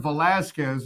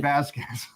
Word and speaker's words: Velasquez: Well, we're gonna shout out Aaron Velasquez and Jordan Tavares, not Aaron Vasquez. Velasquez. You said Vasquez.